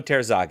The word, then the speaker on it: Terzaghi: Terzaghi? Emiliano Terzaghi.